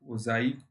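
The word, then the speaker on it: ogive: संचयी आवर्ती द्वारा प्राप्त किए गए वक्र को ओजाइव कहते हैं, जिसका उच्चारण ओजाइव है।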